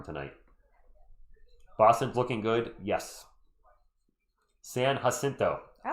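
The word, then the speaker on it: San Jacinto: Yes, San Hasinto.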